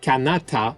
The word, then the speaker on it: Kanata: anecdote garcia thought that the word canada which is actually pronounced kanata in iroquois meant that this was